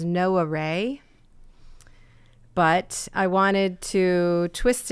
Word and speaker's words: Gnoware: The locals will pronounce it as no array, but I wanted to twist it so that it could be read as nowhere because basically there's a